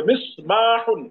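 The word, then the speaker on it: مِصْبَاحٌ: হ্যাঁ, একটা হলো সাদ, এটা সাদের উচ্চারণটা একটু শক্ত হবে বা একটু পুর হবে। মিসবাহুন একটি বাতি।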